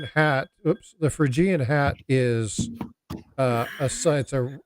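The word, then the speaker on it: Phrygian: do a video and it's not spelled with an F it's pH it's p h r y g i a n yeah fan frian yeah so if you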